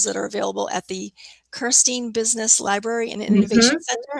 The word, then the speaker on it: Kirstein: wealth of resources that are available at the Kirstein Business Library and Innovation Center. Am I pronouncing it correctly?